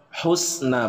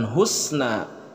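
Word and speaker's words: حسنى: Alif Lam Qomariah kemudian Perhatikan cara pelafalan huruf H Husna bukan husna tapi Husna bukan Pak tapi dibacanya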